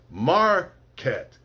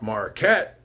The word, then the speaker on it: market: So for the word market, it's market. And I'll put the mar in capitals to show that that's the where the stress is in the word. It's not marquette, it's marquette.